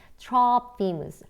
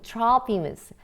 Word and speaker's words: Trophimus: 그렇게 이 소요를 일으키고 사람들을 부추기는 이들, 이 아시아에서 소아시아에서 온 유대인들은 had previously seen Trophimus, 드로비모라고 하는 사람인데요. 이 드로비모를 영어 발음은 Trophimus인데 우리 한글에 드로비모라고 우리 한글 성경에 나와 있죠.